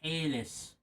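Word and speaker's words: Hällas: Which I believe is appropriately pronounced Hairless.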